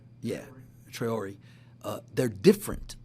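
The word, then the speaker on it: Traoré: Traore? Yeah, Traore.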